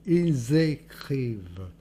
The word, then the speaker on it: ils écrivent: Mà nếu mà đọc bình thường thì nối cái chữ in, nó có chữ S nối liền vào chữ écrivent là Ils écrivent une lettre.